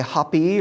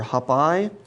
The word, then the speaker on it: Hapi: with a ram's head there was also hapi hoppy or hop-eye was known as the spirit of the nile and he was its dynamic essence this happy h-a-p-i which i guess we could pronounce as happy if we wanted to was the god